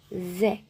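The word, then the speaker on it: זה: Número cinco é Zé. Zé, OK? que também eh tem vários significados, como isso, esse eh este é um pronome demonstrativo. E aqui nós temos o zin e o ré consoantes e o segol como ã vogal.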